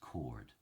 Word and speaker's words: coward: to respond now Howard in original pronunciation is pronounced chord am I a chord